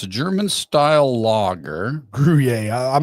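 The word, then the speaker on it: Gruyère: Brewer? Oh God, how do you say that? Gruyere.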